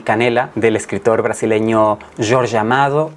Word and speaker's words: Jorge Amado: canela del escritor brasileño George amado o Jorge amado Si queremos pronunciar su nombre a nuestra manera es una novela que